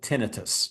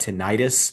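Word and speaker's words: tinnitus: had unbearable tenitus okay other people pronounced that tenitis in other words ringing in the ears I personally just as a side note do not like to pronounce that word tenitis because when you hear itis you think inflammation Yeah. And it's not necessarily inflammation. I I call it tenitus, but I'm not an ENT either.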